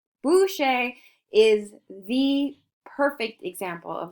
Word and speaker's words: Boucher: This is by Francois Boucher. Boucher is the perfect example of the Rococo. Now you might be thinking, Miss Cortez is Boucher. In French, an ER is pronounced A.